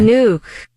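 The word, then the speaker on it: Nuuk: been practicing uh the pronunciation of the capital of Greenland okay nuke it's nuke nuke nuke who knew that nuke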